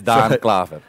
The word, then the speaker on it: Daan Klaver: So our next guest is Daan Klaver. Yes. Did I say that right? Pronounced it perfectly. Perfect. Wow. I'm almost sort of. It's Daan Klaver.